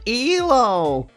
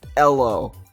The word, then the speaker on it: Elo: “It’s pronounced /i.loʊ/.”